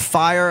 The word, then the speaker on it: FIRE: but he is a free speech advocate of fire as the acronym is pronounced they are literally the group on the